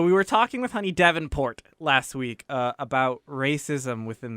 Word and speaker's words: Davenport: It could be the French pronunciation. Honey Davenport. Yeah, but she said that it was a hard T because there's a lot of T.